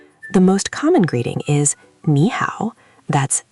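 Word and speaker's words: 你好: The most common greeting is "nǐ hǎo". That's n i h a o with a third tone on "nǐ" and a third tone on "hǎo".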